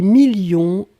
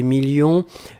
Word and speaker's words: millions: s à la fin 2 millions on ne prononce pas le s mais il est là ensuite signature mais ici